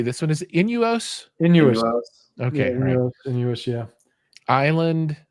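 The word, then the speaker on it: Innuos: Inuos.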